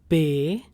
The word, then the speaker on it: B: Now B is pronounced as Bay. Bay. Bay as in Bay of Bengal or before anyone else.